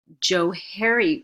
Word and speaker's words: Johari: Actually, Johari window would be the proper pronunciation for it, because it's a combination. The Johari window is a combination of their first 2 names.